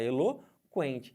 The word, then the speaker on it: eloquente: é dígrafo por quê Porque você fala o eloquente você não falar eloquente você fala Helô quente Então tem que o